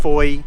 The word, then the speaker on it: Fowey: Pronounced Fowey to rhyme with joy and designated as an